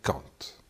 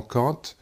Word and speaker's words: Kant: Donc ce philosophe, c'était un philosophe allemand qui s'appelait Kant, Emmanuel Kant, ou Kant si vous préférez. Prononcez ça à l'allemande.